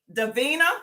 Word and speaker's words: Divina: The MSC Divina, is that how you say it?